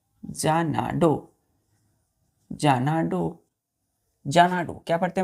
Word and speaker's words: Xanadu: First word है बच्चों हम लोगों का जानाडो। जानाडो, जानाडू। क्या पढ़ते हैं बच्चों उसको? जानाडू। XANADU, जानाडू, जानाडू। एक्स ए को हम पढ़ते हैं जा, NA ना, DU डू, जानाडू।